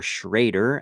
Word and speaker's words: Schroeder: All right, there's a Bill Schroeder, or Schrader, as some people would pronounce it as well.